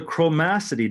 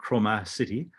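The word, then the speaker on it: chromaticity: It's called the chromacity diagram. That's how you pronounce that word, by the way, not chromacity.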